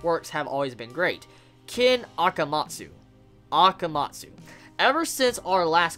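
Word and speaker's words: Ken Akamatsu: certain Monga whose name I'll help you to pronounce since his Works have always been great kin akamatsu akamatsu ever since our last conversation I was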